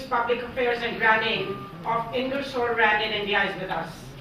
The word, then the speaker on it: Ingersoll Rand: I represent a company called Ingersoll Rand, and I know it's difficult to pronounce, and many people say, Intel and the others, but that is what it is. It's Ingersoll Rand.